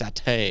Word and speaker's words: satay: doesn't mean that it's satay. Yeah. How do you pronounce that? I think it's satay. Satay, yeah.